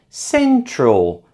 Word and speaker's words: central: Central is stressed on the first syllable.